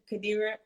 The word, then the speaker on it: Qadira: And I'll tell you guys, we actually, Qadira, am I pronouncing your name correct?